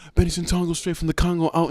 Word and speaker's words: Ssetongo: The only reason why it was like Benny Santongo straight from the Congo is because my last name, Santongo, rhymes with Congo.